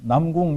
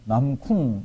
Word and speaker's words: 남궁: 사람도 있고 그런데 이제 제 이름을 미국 사람들이 발음할 때 보면은 어 이게 이제 어떤 사람들은 남궁 이렇게 발음을 하는 사람들도 있고 남쿵 이렇게 하는 사람도 있고 근데 이제 일본에서 이렇게 태어 나서 잘한 어떤 목사님은 이거를 남궁을 잘 못 하시더라고요. 그분은 제 이름을 발음할 때 남군이래요. 남군.